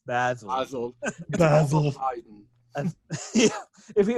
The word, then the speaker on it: Basil: In my mind, I want them to actually be listening to this and very snootily say every time, "It's not Basil, it's Basil."